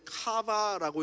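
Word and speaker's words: קוה: 히브리어로는요, 이게 카바라고 읽는 단어인데요, 이 카바의 뜻은 wait for, 기다린다라는 뜻이래요.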